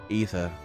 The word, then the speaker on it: Aether: Don't think he even knows how to pronounce Aether. Being fair, it's a bloody tough word. Who decides A-E should be pronounced E? It should be like I-E or maybe A.